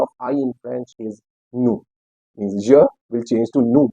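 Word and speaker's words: nous: so it means V new what is the pronunciation new here the spelling is n o u s but the S is silent until and unless after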